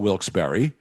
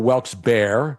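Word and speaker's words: Wilkes-Barre: Yeah, you can call it Wilsberry or Wilks Bear. Bear. I call it Wilks Bear. Berry is acceptable to me.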